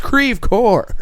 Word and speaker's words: Creve Coeur: It's like Creve Coeurs. I think that was another one that was in the video. They're like, it's Creve Core, like just yelling at.